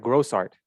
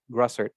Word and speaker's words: Grossart: i was like no is it gross art or gross art she's like grosser i'm like i'll try to remember that and then i introduced her and i was like chris it was like grossart she's like yeah i was like no no wait it was grosser right she's like yes it's